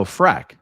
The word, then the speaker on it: Freck: It's like Shrek, but with an F. Oh, Freck.